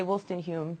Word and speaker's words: Woolstenhume: has the flu, but I want to say Woolstenhume, just so he can hear that I know how to pronounce his name.